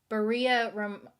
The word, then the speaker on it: Berea: who you are but Berea rhymes with Maria oh okay okay that's